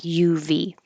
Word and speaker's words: of: Israelites now remember that of is spelled o f but it sounds like UV so when there's a